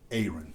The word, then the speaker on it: Aaron: my name is not Aaron, it's Aaron. My wife used to tell people it's apron with no P. So try to say apron, but leave the P off, and it's Aaron.